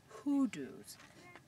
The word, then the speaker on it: hoodoo: piece of it these formations here are called hudos it kind of sounds like when you say who Do You Love hoodoo but it's spelled differently it's ho o o